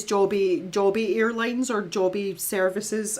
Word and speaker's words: Joby: Um but if you think of the word if I have a job, it's J O B. So it's it's Joby Joby Airlines or Joby Services.